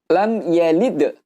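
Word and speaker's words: لم يلد: Maka hukum bacaannya di sini teman-teman adalah idhar syafawi. Artinya kita membaca dengan jelas di bibir. Sehingga bacanya adalah lam yalid. Kita baca persis huruf-huruf yang ada di sini. Mimnya pun juga jelas, ya-nya pun juga jelas. Dan panjang harokatnya cukup dengan satu harokat.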